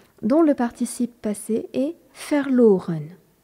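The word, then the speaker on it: verloren: fort en allemand dont le participe passé est faireloren V e r l o r e n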